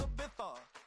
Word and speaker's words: Ibiza: Yeah, it's pronounced Ibiza, actually.